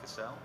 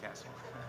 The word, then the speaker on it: Cassell: That is Cassell, and it is not pronounced Cassell, it is Cassell.